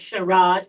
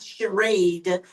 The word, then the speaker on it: Sherade: Um, my sister pronounced my name as Sherrod, which is okay. That's the way all of my white brothers and sisters pronounce it. But it is Sherade and I, my last name is.